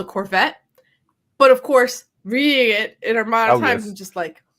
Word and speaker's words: Corvette: You see, you use French words, and you pronounce them correctly. Corvette. That's the correct pronunciation.